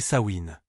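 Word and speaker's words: Samhain: Elle portait un nom, sa main prononcé sain.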